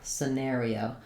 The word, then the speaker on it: scenario: But when we change to scenario, because the stress is on the middle syllable, now our E no longer says that E sound. It's not sih-NAIR-ee-oh, but rather scenario. So we have a reduced schwa there.